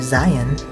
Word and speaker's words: Zion: Zion, or Zion, as the locals say, is right through there-ish.